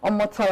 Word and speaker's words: Omotola: Pronounce the name, please. Omotola.